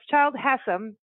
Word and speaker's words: Childe Hassam: So it's Childe Hassam, interesting name, and she's going to tell us